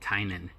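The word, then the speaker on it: Tynion: In the first part, Tynan actually says how you say his name, and if you're gonna spell it, it's Tynen. That's how you pronounce it, Tynan.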